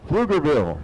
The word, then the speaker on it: Pflugerville: Hey, can you pronounce that correctly? What is that? Pflugerville.